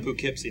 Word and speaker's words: Poughkeepsie: Hey, it's not, you're really from Poughkeepsie, not the Bronx. Yes, did I say it right? Poughkeepsie.